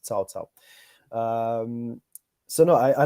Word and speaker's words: Cao Cao: so it's you you might read it as cow cow but actually it's pronounced salsao um so no I I love TaoTao from